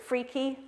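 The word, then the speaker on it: FRKE: We say F-R-K-E, we pronounce it freaky, so we refer to people as being freaky, you're not freaky, or this answer is freaky, you're not freaky.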